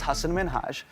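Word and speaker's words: Hasan Minhaj: influence an individuals experience the real way you pronounce it and this is a big deal cuz my parents are here it's Hass minhaj the nuance of the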